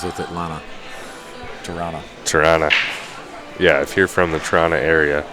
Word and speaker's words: Toronto: Yeah, so Lawrence here was just saying the second T in Toronto is silent, so Tirana.